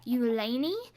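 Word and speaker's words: Ulani: of Hawaiian origin and the way that they said to pronounce it was you Lanie and this is absolutely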